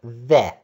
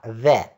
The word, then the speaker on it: the: Имеет одну форму the, которая произносится the. Не t, не c, а the.